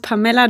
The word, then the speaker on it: Pamela: hallo so hallo hallo mein Name ist pamella pamella kriege ich noch h genau aber die meisten sagen PEM und das ist mir